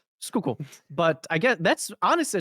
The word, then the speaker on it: Schuylkill: All right, I looked up how to pronounce this. Apparently it's skook skook not that's wrong. Um too many letters for that. Skookul.